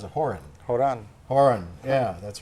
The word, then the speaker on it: Horan: Horan, yeah, that's right, which is the Irish pronunciation, but we've pronounced it Horan.